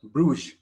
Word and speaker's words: Bruges: saw they call it venice of north it's pronounced as bruce now this uh history of a bruise goes